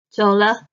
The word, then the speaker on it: 走了: Next, 走了 means leaving now. 走 the third tone. The is the neutral tone.